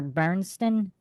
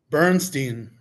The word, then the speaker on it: Bernstein: Is it Bernstein or Bernston? Bernstein. Bernstein. Okay.